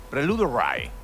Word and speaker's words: Prelude Rye: ¿Le pronunciamos bien el nombre del caballo? Sí. Prelude Ray.